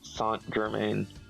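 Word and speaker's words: Saint-Germain: However, the card is pronounced is pronounced with his French pronunciation. So, it technically is Count of the White Dwarf Sant Germaine.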